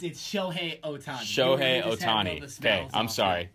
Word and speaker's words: Shohei Ohtani: Do you care that Shohei Ohtani is... Did I say it wrong? No, you got it wrong. Yeah, it's Shohei Ohtani.